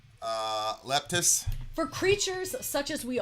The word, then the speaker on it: Leptis: How do you pronounce that band, would you say? Leptis.